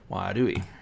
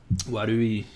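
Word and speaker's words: 悪い: I didn't even think about that with the Wadu, like the way that the R is pronounced. Warui, it's so close.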